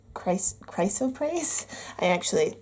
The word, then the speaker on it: chrysoprase: Those of you who picked chrysoprase. This is how you pronounce it.